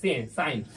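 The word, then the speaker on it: sin: देखो इसको एक्चुअली में सिन पढ़ते हैं लेकिन साइन इसको प्रोनाउंस करते हैं सभी साइन।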